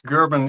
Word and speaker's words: Gerben: your first name um for Americans gerbon is uh the most easiest way to say it okay just want